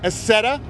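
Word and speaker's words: Accetta: Robert Acetta, that is spelled A-C-C-E-T-T-A.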